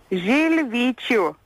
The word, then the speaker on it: Žilvyčių: So how is it pronounced? Žilvyčių.